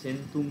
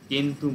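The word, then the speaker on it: centum: এটা সি আছে বটে, কিন্তু এর প্রোনাউন্সিয়েশনটা লাতিনে সেন্তুম না হয়ে কেন্তুম হচ্ছে।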